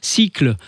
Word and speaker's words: Sikle: fondateur de cycle alors cycle ça s'écrit s kle cycle les composteurs de Strasbourg